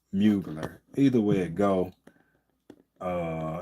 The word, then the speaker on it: Mugler: or whatever, but uh smell like muggler, but I've I think I've heard people pronounce it uh mugler.